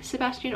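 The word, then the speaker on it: Sebastián: His name is Sebastian, and we call him Sebastian or Sebastian in, you know, with the Spanish pronunciation, which is funny because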